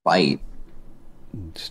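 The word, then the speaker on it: Bight: there in the The Great Australian um bite Great Australian butt yeah that how you say that I guess but it's spelled b i g HT but you meant to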